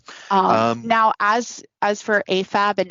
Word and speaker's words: AFAB: now as as for afab and amab those are um pronunciations of the acronyms a m a b for amab and a f a b for afab and they just mean assigned